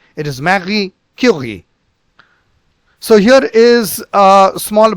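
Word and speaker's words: Marie Curie: is it is not R so R is pronounced in the gutal sound marii it is not Mar it is not curi it is Mari Ki so here is uh small bio which you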